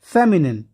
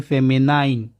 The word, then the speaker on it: feminine: फेमिनिन, इसका pronunciation आप देख लिए, फेमिनिन. बहुत ज़्यादा स्टूडेंट्स को मैंने सुना है वो इसे प्रोनाउंस करते हैं फेमिनाइन. फेमिनाइन नहीं है, ठीक है, फेमिनिन.